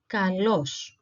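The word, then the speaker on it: καλός: pertaining to good is Kalos Kalos the spelling is exactly the same the only difference is that we have an L lamb letter here so Kalos Kalos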